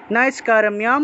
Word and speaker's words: নৈষ্কর্ম্যম: ন কর্মণাম অনারম্ভাত নৈষ্কর্ম্যম, ময়ের সাথে জফলা থাকায় মিয় উচ্চারণ হবে, অনুস্বার আছে বিদায় ম উচ্চারণ হবে, নৈষ্কর্ম্যম পুরুষোষ্ণুতে, এখানেও লুপ্ত অ থাকায় শতে গিয়ে একটা টান দিলেই অটোমেটিকভাবে অ উচ্চারণ চলে আসবে, পুরুষোষ্ণুতে।